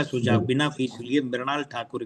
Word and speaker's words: मृणाल: सुझाव बिना फीस लिए मृणाल ठाकुर के लिए, ये जी। गुजराती और महाराष्ट्री की टोन में मृणाल लिखती है, MRUNAL, मृणाल। हाँ, और वो लोग हाँ, बोलते भी मृणाल है, मृ, पृथ्वी, बिल्कुल।